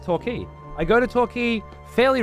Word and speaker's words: Torquay: Dude, I don't live that far away from Torquay. And it's always been pronounced Torquay, not Torquay.